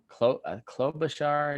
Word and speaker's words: Klobuchar: And from there, we had Biden, Elizabeth Warren, Pete Buttigieg, um, Amy Crying Face Lady, Klobuchar, how Klobuchar, I guess is how you say her name.